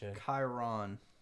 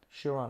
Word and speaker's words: Chiron: for the experience Bugatti Chiron Chiron I say Chiron okay I'm American I like the way is that how the Europeans say it shiron I think that's that's how you say it yeah I I